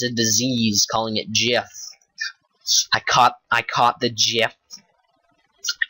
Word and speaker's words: GIF: Until recently, when the creator of the GIF said it's pronounced Jif, like the peanut butter, which kind of disappoints me because I always said GIF.